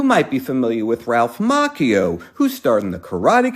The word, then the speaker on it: Macchio: Unfortunately, many people, including himself, pronounce his name incorrectly as Macchio, and I'm always happy to politely correct them. As you may already know, in Italian the CH makes a hard C sound, just like Pinocchio.